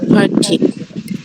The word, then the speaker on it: party: এখানে আর উচ্চারণ হবে না, আর অ উচ্চারণ হবে।